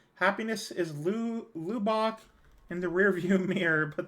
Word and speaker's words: Lubbock: I am saying Lubbock. Bach, not Buck. Saying this as a person who grew up there.